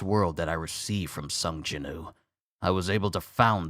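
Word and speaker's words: 성진우: For so long, I've called him Sung Jin-woo, but it's Sung Jin-woo. That's how they pronounce his name.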